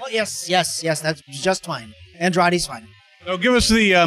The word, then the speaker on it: Andrade: I'm here at Katsucon with Dino Andrade. I said that right? Oh, yes, that's just fine. Andrade's fine.